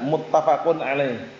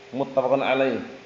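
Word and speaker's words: متفق عليه: Nam itu nanti bacanya muttafaqun alaih. Muttafaqun alaih.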